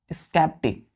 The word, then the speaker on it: sceptic: स्कैप्टिक pronunciation क्या करेंगे इसका?